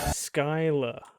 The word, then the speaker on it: Schuyler: back a second skyler skyla interesting i never would have guessed that was the actual pronunciation of that but that's good to know and that was really